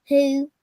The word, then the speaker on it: who: But the O is silent. Who? And it's the ooh part. See your mouth. Ooh. The W is silent, yeah.